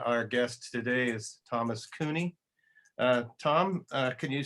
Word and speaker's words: Cuni: project and uh our guest today is thomas cooney uh tom can you say your full name and where you live right now it's thomas cooney and my last name is spelled c-u-n-i i